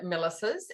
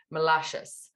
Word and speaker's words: Milasas: My father was Lithuanian, and it should have a little umlaut on it, and it actually should be pronounced Milasas, but we took the umlaut out, which means it's Milasas.